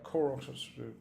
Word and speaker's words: Qorox: uh is by koros koroks by the way is spelled q-o-r-o-x that's using a c